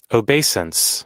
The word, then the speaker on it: obeisance: So, obeisance. Obeasance.